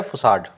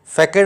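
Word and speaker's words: façade: Word है ये, और इसको लिखा जरूर फैकेड जाता है लेकिन बोला जाता है फुसाड, ठीक है। फैकेड आप हिंदी मीडियम वाले बच्चे बोल देंगे इसको, लेकिन इसका सही प्रोनाउंसिएशन क्या है? फुसाड।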